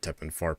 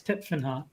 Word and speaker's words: Tepfenhart: It's not Teppenfart, but that's how I like to pronounce it. No, I know. I can see it. It's Tepfenhart, but it's still a terrible name.